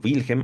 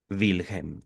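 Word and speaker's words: Wilhelm: Dice Freud, "Mi caro Wilhem o mi caro Wilhem. Yo preferiría pronunciar la W como V.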